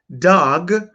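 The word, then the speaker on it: דג: Now, words that come from the da sound are dam, which means blood, and dag, which means fish. It's not daga and it's not dama. It's dam and it's dag, which is why we don't have yasharala.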